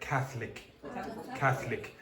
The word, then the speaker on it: Catholic: Okay, so elision. So one of those sounds is going to disappear. What one? This totally disappears. So you get Catholic. It's two syllables usually.